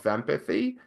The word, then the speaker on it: VEMPathy: And what we ended up with was called VEMPathy, or the Vestibular Migraine Patient Assessment Tool and Handicap Inventory. It intentionally should rhyme with empathy.